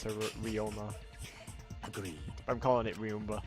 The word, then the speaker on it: Ryoma: So that's how it's actually pronounced, as Ryoma.